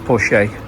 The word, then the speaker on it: Porsche: I didn't get to see the Bentley sat there waiting for me, or the Porsche, or the other Porsche, which is actually pronounced Porsche.